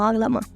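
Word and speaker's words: ağlamak: Allí pronuncié la G, pero tiene que ser una G suave, como aglamak, muy suave.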